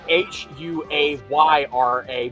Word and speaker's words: Huayra: That's spelled H U A Y R A but also pronounced Huayra.